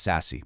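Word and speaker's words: SASE: It's called sassy. It's pronounced sassy by the way.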